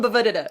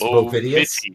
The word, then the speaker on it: Bovidius: No, I insist you call him Bavudida. I insist. It's Bovidius. Bovidius.